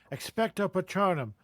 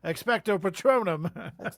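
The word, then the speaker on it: Expecto Patronum: Expect a patronum. expect. What does he say? Like expect a patrono. No, no, no, no. Expectto patronum.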